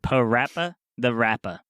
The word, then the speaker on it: PaRappa the Rapper: since corrected it and i know the pronounce it parappa the rapper it's great because it rhymes which is really on theme with hip-hop because in hip-hop things rhyme a lot so i think it's